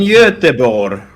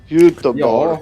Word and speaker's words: Göteborg: It looks like Gothenburg, but it's pronounced... Anyone? Well, I've been there, and I always called it Gothenburg. Come on, I've already... You mean Göteborg? There you go. Göteborg.